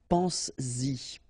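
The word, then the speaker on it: penses-y: this pronoun after, then you will have to put back this S just to produce it orally, because you will pronounce it pense-y, pense-y, okay? Pense-y, all right? So you get to make this liaison.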